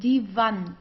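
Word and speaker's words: Wand: Okay we pronounce it as vant de vant. Okay so we don't have something like in English like woo like wall. We don't have this. We say v.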